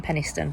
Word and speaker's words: Penistone: Fun fact, I went to sixth form in Penistone. That's how you say it, Penistone, not Penistone.